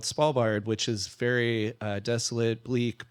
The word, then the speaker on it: Svalbard: So tell us the story about this next one, which is pronounced Svalbard.